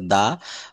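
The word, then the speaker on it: the: এই ভায়োলের উচ্চারণটা যদি কোনো শব্দর ভাওয়েল থাকে তার পূর্বে আমরা কিন্তু দি বলবো, দি অরেঞ্জ, দি এগ, দি অ্যাপল। হুম। আর কনসোনান্ট থাকলে সব জায়গায় আমাদেরকে দা বলতে হবে।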